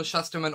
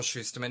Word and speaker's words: Shusterman: than not i love neil shusterman or schusterman depending on how you say it i say shusterman schusterman's books his writing